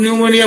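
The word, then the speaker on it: pneumonia: অনেক সময় উজ্জ্ব থাকে না, যেমন ধরুন নিউমোনিয়া বানান করবে, পি দিয়ে শুরু করবে, পিটা উজ্জ্ব থাকে, এখানেও তো ফ্লাইটটা বা ফিয়ারটা উজ্জ্ব থাকে।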